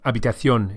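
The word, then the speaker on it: habitación: Make sure the h of abathion is silent. In fact, all hes in Spanish are silent. Unabathion.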